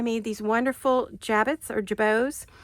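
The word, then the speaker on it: jabot: So, I made these wonderful jabits or jabos. J A B O T is how it's spelled.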